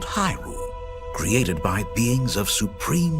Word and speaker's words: Hyrule: Hyrule rhymes with pie. Well, not quite.